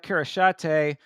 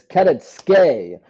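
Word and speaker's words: Kareckaitė: And again, speaking of Contender Series, next up is Ernesta Karashate versus Nicole Cagliari. Cagliari, another Contender Series fighter. and I'll actually correct you. It's Keretske is how they say it.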